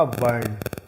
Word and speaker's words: वर्ण: ये रेफ लगा देंगे, तो इसका उच्चारण होगा वर्ण, इसका होगा पर्ण।